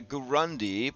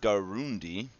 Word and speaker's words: Garundi: The Gurundi, pronounced Garundi, are a human ethnicity most commonly found on the eponymous continent of Garund.